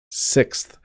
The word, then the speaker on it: sixth: fifth person so sixth sixth this is a challenge for some English Learners because of the th at the end it's a challenge for